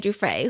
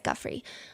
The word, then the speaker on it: Giuffre: One netizen thing that people have pointed out about this statement is it sounds wishy-washy, and second of all, she keeps pronouncing Giuffre as Guffrey.